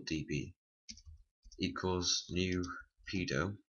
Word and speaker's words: PDO: PHP function called PDO I pronounce it as pedo but you can pronounce however you want first we're just going